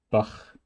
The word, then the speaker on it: Bach: CH can be ich, or it is Bach or Buch. Those two, Bach and Buch, sound almost the same in the consonant quality. One is pronounced a little bit more forward and the other one a little bit more backwards because of the letters R and U. There's no other reason. They almost sound the same.